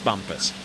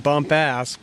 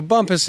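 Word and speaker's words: Bumpass: you got that right as you spell it on paper I mean some people might read bump ass but but um I'm glad you said it not me it could be frowned upon so Bumpus is uh what the locals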